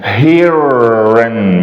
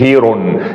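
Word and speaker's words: heron: بقى في اخر الكلمه بننطقها ان هيرن مش هيرون الاو ان في اخر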